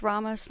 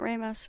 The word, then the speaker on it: Ramos: It's Ramos, not Ramos.